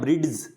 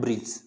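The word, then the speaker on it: bridge: जैसे अपन ये पढ़ देते हैं ब्रिड्स, ब्रिड्स, कोई कहेगा क्या बोल रहा है ब्रिड्स, तो इसको बोला जाता है ब्रिज।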